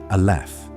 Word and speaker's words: aleph: You pronounce it aleph.